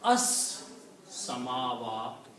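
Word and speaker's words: السَّمَاوَاتُ: So this will become al samawatu. Okay? The heavens. The heavens. Samawatu, the heavens. Now when you read together, then this lam is not pronounced, but sin is pronounced for 2 times, because sin is a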